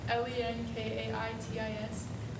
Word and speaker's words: Lenkaitis: Oh, Lenkitis, like Lenkaitis. It rhymes with bronchitis. Oh, okay.